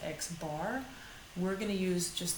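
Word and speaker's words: x̄: over it that's the mean or average it's pronounced x bar we're going to use just the letter m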